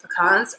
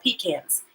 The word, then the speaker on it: pecans: say it incorrectly like pecans or do you say it right way like pecans anyway we're gonna let